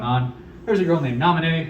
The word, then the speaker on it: Naminé: There's a girl named Naminé, who I thought was Namine for a while because I couldn't pronounce the accented E at the very end of her name.